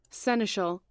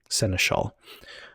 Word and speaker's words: seneschal: All right, how is that pronounced? Seneschal. Oh, I pronounced it pretty close. Seneschal.